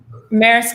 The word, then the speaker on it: Maersk: return we spoke about that how do you pronounce that shipping company's name right maersk share price has increased 31 in the last